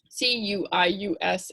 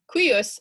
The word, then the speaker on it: cuius: c u i s c u i u s it's a little tricky imagine it as q u i u s cuius that definitely helped